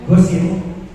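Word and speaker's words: Gossen: Nah, ini ada ilmuwan, bacanya Gosin.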